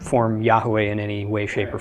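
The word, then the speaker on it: Yahweh: familiar with this already I'm chosen to pronounce it Yahoo a just because that is the most common pronunciation I'm not saying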